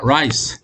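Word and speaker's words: rice: 안 감고 할 때 그래서 바람을 굴려야 됩니다 남들이 뭐라고 하든 라이스 라이스 라이스 라이스 라이스 100번 해보세요 그러면 절대이 알 발음이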